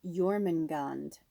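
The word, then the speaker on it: Jörmungand: So it's pronounced Jormungand.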